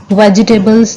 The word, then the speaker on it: vegetables: हम वेजिटेबल्स को दो पार्ट्स में हम इस तरह से डिवाइड कर लें कि पहला वर्ड है वेज और दूसरा वर्ड है टेबल्स। तो हम इसको वेजिटेबल्स नहीं बल्कि वेज टेबल्स, और इकट्ठा जब हम प्रोनाउंस करेंगे वो हो जाएगा वेजिटेबल्स। तो सबसे पहले हमने ये